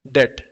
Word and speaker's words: debt: देखो मैंने स्पेलिंग लिखी है DEBT। तो इसको हम लोग डेप्ट नहीं बोलेंगे, इसको बोलेंगे हम लोग डेट।